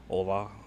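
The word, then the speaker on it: olá: Ola I think it's pronouncing you drop the H and there's O Lola.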